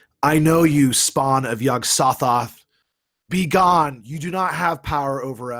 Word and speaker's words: Yog-Sothoth: ask a quick question is it pronounced yog-sothoth yes saw Thoth yog-sothoth okay yes yes yes got nothing